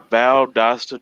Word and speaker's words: Valdosta: I'm going to tell you how it's pronounced. Valdosta, Georgia.